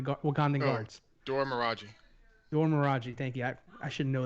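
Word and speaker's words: Dora Milaje: Dor Miraji, thank you.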